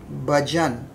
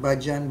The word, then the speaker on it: bhajan: For instance, I've often heard many people say bhajan. The word is not bhajan, but it's bhajan, bha. So that hard H sound is necessary to sing many of the songs.